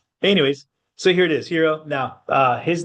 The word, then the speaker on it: Heron: So yeah hero is one pronunciation some uh most of the time his name has a n at the end. Hero. So it's heron extra I there. So heron or hero one of the two.